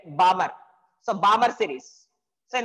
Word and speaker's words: Balmer: Here, L is the silent, Balmer.